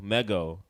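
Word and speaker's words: Meggo: Big shout out to Migo her name is Migo or mego mego is her name DJ Meo yo she's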